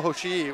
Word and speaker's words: Hoshii: Toko Hoshii, which is Hoshii, and you go Hoshii. Yeah, very like Hawaiian. Yeah, you know, like you pronounce every letter.